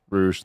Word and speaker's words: Rouge: I did there yeah I didn't who's the rogue rogue Rouge the Bat Kevin can you bring up Rouge the Bat Rouge is spelled like Rogue kind of I [ __